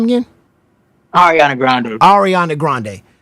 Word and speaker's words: Ariana Grande: correct me uh arand how you say it arand Grande ar ar Ariana Grande so you was with the frunk flex you was getting sign Russell Simmons and you were secretly dating what's her name again Ariana Grande Ariana Grande how like it was like it